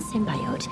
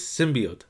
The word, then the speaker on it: symbiote: The proper pronunciation for this is symbiote, not symbiote.